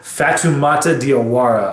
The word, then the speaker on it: Fatoumata Diawara: And there's also a track called De Soleil featuring a lovely artist, Fatoumata Diawara, I believe is how you say her name, but Fatoumata is just absolutely exquisite on this track.